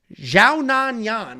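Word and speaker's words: Xiaonan Yan: we have Yan Janan taking on Tabitha RI xiaan Yan is actually how they pronounce it xiaan Yan is 18-4 in her career two and three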